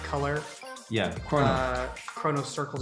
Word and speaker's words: XronoCircle: Chrono circles is how it's pronounced, but it's spelled X-R-O-N-O circles.